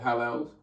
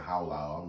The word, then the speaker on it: halal: Halal. Halal. Halal. So it's halal? Yeah, he just said how loud. I'm saying it wrong. It's halal.